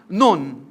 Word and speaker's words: Nun: Joshua, the son of Noon, noon actually ang pronunciation niyan. Hindi siya anak ng madre. Noon.